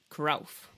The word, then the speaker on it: Cruyff: in Amsterdam Hendrick Johannes kuralf I didn't know it's supposed to be pronounced krough I'm not going to